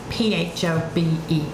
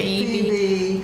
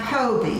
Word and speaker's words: Phobee: So, she spells it p h o b e e and called me Phobe. And I just tell people the h is silent.